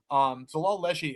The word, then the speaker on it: Xhelal Lleshi: And then the other one I'm going to take is Zalal Leshi. Zalal Leshi, it's spelled Xhelal LLESHI. Zalal Leshi, he's 4-1.